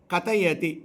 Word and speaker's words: கதயதி: வாஞ்சன் வாஞ்ச விரும்பி கத்தயதி இரண்டாவது தானா ரெண்டு போட்டுருக்கம் பாருங்க தாரண்டு போட்டுருக்கேன் கதயதி இத்தான்ற மாதிரி உச்சரிக்கணும் பவானி துவம்மிதிக இப்ப இதுக்கு